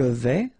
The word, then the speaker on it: vais: Je vais, final S not pronounced here, and remember when you combine this A and E together, you get the sound E, so really open.